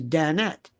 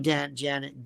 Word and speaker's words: Danette: It's Danette. I like people who have like Danette. I bet you spent your whole life saying, no, not Janet. Danette.